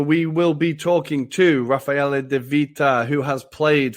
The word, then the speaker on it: Raffaele: Raffaele De Vita. And you are from Rome. You've played in Scotland as well. How are you today? I'm good, thank you. Yeah, no, that's a good pronunciation. It's Raffaele.